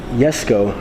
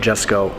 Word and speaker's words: Jesko: koenigsegg yes go the yes go it's pronounced yes go not just go so i'm gonna get